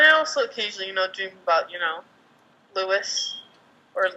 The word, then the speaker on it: Louis: And you're like, and I also occasionally, dream about, Louis or Luis. Louis!